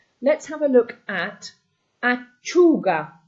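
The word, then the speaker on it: lattuga: Let's have a look at auga. Again, your u is where the stress is. Auga.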